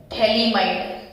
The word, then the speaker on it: phthalimide: थैलीमाइड, थैलीमाइड, थैलीमाइड ऐसे pronounce आप कर सकते हो।